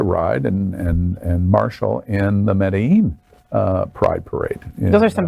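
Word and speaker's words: Medellín: You start saying it right. Medellin. Like it's got a J in it.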